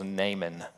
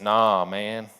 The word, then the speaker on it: Naaman: There's a couple other characters, and one of the other main characters, his name was Naaman. Naaman, Naaman. You might pronounce it, nah, man, maybe.